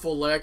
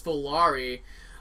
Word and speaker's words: Volare: Not Volaire. Keeps calling it Volaire when it's Volari.